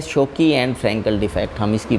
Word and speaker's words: Schottky: मैं इसको शोकी बोल रहा हूँ, SCHOTTKY। Pronunciation might be different, स्कोटकी defect and Frenkel defect, लेकिन एक कारण से मैं इसको शोकी बोल रहा हूँ।